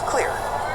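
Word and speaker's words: Xlear: It's Clear, X-L-E-A-R, pronounced Clear, even though it's got an X right there at the top, and no C.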